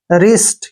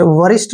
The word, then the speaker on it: wrist: जब भी W के बाद R आता है तो W वहां पर साइलेंट हो जाता है। RI का उच्चारण हम क्या करेंगे? री, और S का उच्चारण से, और T को टे। रिस्ट, क्या पढ़ेंगे इसको? रिस्ट, वरिष्ठ नहीं पढ़ना है, रिस्ट पढ़ना है।